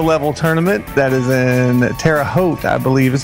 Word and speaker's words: Terre Haute: Terre Haute skill level tournament that is in Terre Haute, I believe is how you pronounce it.